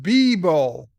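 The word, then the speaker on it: Beabull: now there's two more oh it's pronounced bee bowl bee bull bulldog beagle bulldog tuesday was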